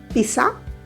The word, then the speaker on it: pizza: There is a T sound which comes in between.